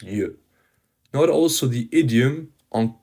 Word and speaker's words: yeux: Now, on the sixth note, another very common irregular plural is the masculine noun for the eye, l'œil, which becomes les yeux, pronounced yeux.